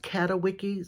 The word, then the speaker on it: Catawiki: me to this site called, I think it's pronounced Catawiki, C-A-T-A-W-I-K-I.